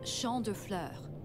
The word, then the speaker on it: Champs de Fleurs: Champs de Fleurs? How do you say that? It's Champ de Fleurs.